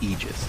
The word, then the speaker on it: aegis: a point okay so the correct pronunciation technically speaking of ages is aegis it's a literal word